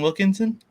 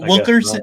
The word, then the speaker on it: Wilkerson: We can't put him next to Christian Wilkinson. Well, Wilkerson.